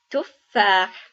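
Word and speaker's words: تفاح: As you can see, when we pronounce the word, we pronounce the A as a long A. And the reason is because we have the alif here. So it would become long and not short.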